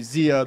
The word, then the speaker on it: Xia: Yeah, but you're supposed to pronounce it Xia, but I don't know if my parents knew that.